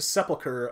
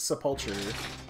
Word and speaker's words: Sepulcher: Apparently it is pronounced sepulcher, not sepulture.